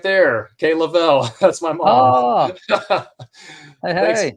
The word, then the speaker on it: Leavell: Funny enough, growing up as a kid, that's how we used to actually pronounce our last name. We used to say Level.